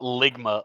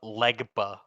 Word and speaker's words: Legba: He said Ligma? No, not Ligma, Legba.